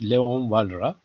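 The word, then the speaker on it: Léon Walras: the father of these type of models is Leon valra it's pronounced Leon valra uh he's a French or well he can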